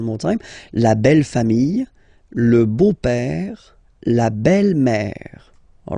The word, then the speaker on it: beau-père: So, père, okay, father, so father-in-law, okay, in French it's le beau-père, the beautiful father, le beau-père. So remember this E-A-U combination of vowels only give you the sound O, beau, okay, le beau-père.